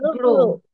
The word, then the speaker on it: grow: It's not go actually. Grow. You have to pronounce R. Grow.